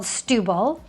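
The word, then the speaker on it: Setúbal: It's called Stubil. That's how it's pronounced.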